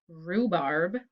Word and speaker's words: rhubarb: sound er so it could be r w r or rh and the words are wrong wrist rhubarb and trophy and now i